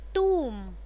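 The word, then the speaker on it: tomb: है साइलेंट कर दो, टूम साइलेंट कर दो, थम अंगूठा साइलेंट कर दो, बी नहीं आएगा, थम्ब नहीं होता, थम होता है, टूम होता है, टूम्ब नहीं होता, टॉम्ब भी नहीं होता, टुंग टुंग भी नहीं होता है.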